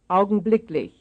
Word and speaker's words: augenblicklich: Here is one stressed on the third syllable. augenblicklich, augenblicklich, 42, And here is one stressed on the fourth syllable.